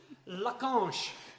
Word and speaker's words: Lacanche: And the unpronounceable cooker that Xavier is going to tell us how to... Lacanche.